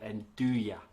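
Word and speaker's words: 'nduja: it's a spicy spreadable salami and it's called enduya so silent silent j so it's m d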